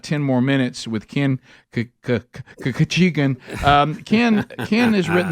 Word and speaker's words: Khachigian: more minutes with Ken kachan um Ken Ken has written the book behind closed doors he taught us how to say his last name but like we're sneezing uh we it's been